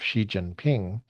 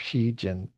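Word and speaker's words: Xi Jinping: I I'm pretty sure Xiinping Xiinping. I think that's how you say it. I think it's ping as in low tone. Ping.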